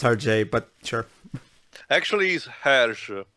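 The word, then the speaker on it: Hergé: package basically what the Alpha is exactly it's pronounced RJ but sure actually he's her oh it so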